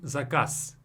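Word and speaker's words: заказ: So instead of saying zakaz, I say zakaz. Do you hear me saying S at the end? Zakaz, zakaz. So we replace Z with S.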